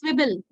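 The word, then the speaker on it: Zwiebel: Swebel, It's swibble, not swibble, swibble. I comes first. After Swivel, if no? I is, yeah, it's swibble. If I comes first, then E, so the pronunciation takes E.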